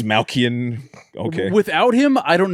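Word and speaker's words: Dastmalchian: David Desmalchian. I could never pronounce his last name. That's David Dalmatian. David Dalmatian. That's Malkian.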